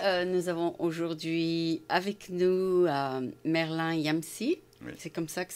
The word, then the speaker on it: Merlin Yamssi: Nous avons aujourd'hui avec nous Merlin Yamsi. Oui, C'est comme ça que ça se prononce?